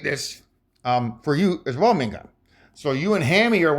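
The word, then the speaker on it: Ma'iingan: You pronounce it like mean, to be cross, gun, mean gun.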